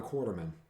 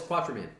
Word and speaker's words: Quatermain: everything about him he sounds like a modern quarterman a modern what quarter remember um league of extraordinary gentlemen oh sean connery's character oh it's quatermain oh that's how you pronounce it no no